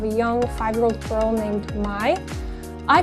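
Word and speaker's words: Myne: a body of a young five-year-old girl named mai i call her mai again i just read it um it's spelled m-y-n-e and she finds herself in the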